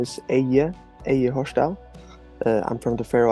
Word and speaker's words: Eyði: Eyði? Eyði? No, in Faroese, the D with the line through Mm. is usually not. It doesn't usually have a sound at all. So